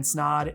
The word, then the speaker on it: Snod: But until next time, my name is Snod. It rhymes with odd and I'm out.